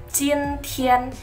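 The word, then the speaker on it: 今天: Hari ini, dalam bahasa Mandarin kita bacanya adalah jin tian.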